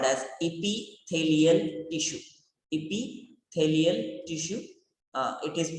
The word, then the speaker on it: epithelial: The first type is called as epithelial tissue. Epithelial tissue. It is pronounced in one like epithelial.